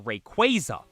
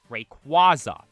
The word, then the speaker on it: Rayquaza: the most prominent one people say Rayquaza or Rayquaza now I do believe the proper pronunciation is Rayquaza but if I'm being honest Rayquaza just sounds cooler Rayquaza like that